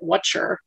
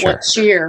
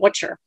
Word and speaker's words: what cheer: um in england but they pronounce it watcher yeah like not what's here but what sure what sure yeah but